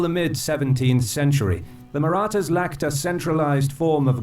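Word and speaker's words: Marathas: they were the maratas oh so it's pronounced maratas I'm sorry for butchering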